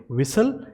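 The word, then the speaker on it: whistle: में आ रहा है, तो उसे ट को जो है वो प्रोनाउंस नहीं किया जाता। तो हम इसे कैसे बोलेंगे, विसल, इसे बोलेंगे रेसल, और इसे हसल, and this is कासल।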